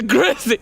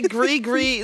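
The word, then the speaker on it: Gris-Gris: g nah it's the Grizzy if they wanted to say GRE gree then they shouldn't have put an S at the end holy holy boy well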